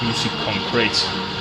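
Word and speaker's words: musique concrète: through all that dragon the music concrete that's how you pronounce it the thing but i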